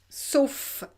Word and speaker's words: sauf: Donc qui n'existe nulle part, sauf, remember this word, ça c'est important, sauf, except, sauf, and here you pronounce the final F, sauf dans ma planète.